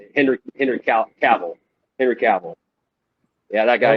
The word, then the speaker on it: Cavill: And now that I'm older, Calvin Henry. I don't know. And I think that's how you say it. Cavill.